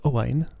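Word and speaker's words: Owain: look this up apparently this is a variant of Owen but it's pronounced Hawaiian dear me impossible idiotic that's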